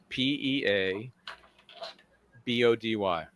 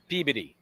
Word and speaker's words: Peabody: P E A B O D Y. P E A B O D Y. Peabody. Wrong. Peodyy. Peodyy. Peodyy. Puberty. Almost like puberty, but pee.